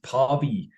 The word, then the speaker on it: Päivi: at, which I think a German case is Päivi. Is that the right way to pronounce it, Daniela?